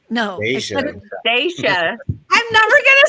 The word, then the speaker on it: Dashia: Dashia, right? No, Dashia. Dashia. I'm never gonna say it right. You know what? It's gonna take like. It's okay. Think about day, like daylight, and then Sha. Dashia. This is good because I